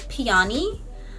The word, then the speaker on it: peony: pink peony I know I'm saying peony wrong you guys I know I know I know I know it's pronounced piani um but I that's